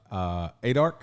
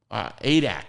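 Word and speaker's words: Adak: Did you ever go to ADARC? ADAC. ADAC. I knew I was saying it wrong.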